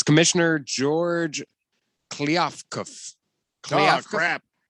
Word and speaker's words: Kliavkoff: It's Commissioner George Kliavkov. Oh, crap. Can't even say his name. Yeah, I don't know. Kliavkov. It's Kliavkoff. Kliavkov.